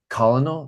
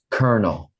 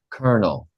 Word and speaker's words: colonel: will just stop and they'll be like colonal they will say it wrong they will say incorrectly